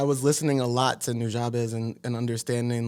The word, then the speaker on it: Nujabes: It'd be on like Nujabes radio or something on that, and He had a radio, and that's how you pronounce Nujabes.